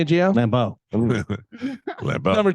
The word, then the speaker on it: Lambeau: Lambeau.